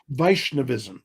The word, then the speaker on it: Vaishnavism: So tell me some more about uh how do you pronounce it? Vaishnavism. Is that correct? Vishnavism.